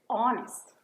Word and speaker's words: honest: the word hour, or honest. They all start with H, but you don't pronounce it.